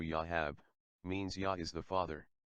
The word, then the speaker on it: Joab: King David's nephew Joab, pronounced in Hebrew Yahab, means Yah is the Father.